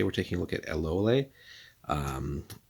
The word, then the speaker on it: Eloéle: So today we're taking a look at Eloéle, or if you want to be cheeky about it, obviously it's going to be the wrong pronunciation, but LOL, she is the kind